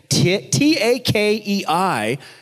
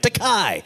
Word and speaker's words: Takei: T-A-K-E-I, they say Takei. Because they see the I. That's an American thing. You just follow the last vowel, right? Takei. And George will always say, it's Takei, rhymes with gay.